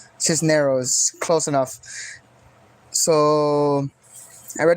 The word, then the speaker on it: Cisneros: Cisneros. This is neros. Hold on. I'm have to pronounce figure out how to Sandra Cisneros. Cisneros.